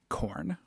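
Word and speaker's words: Khorne: that because fantasy Supposedly the oldest one is corn. Is it spelled with a K?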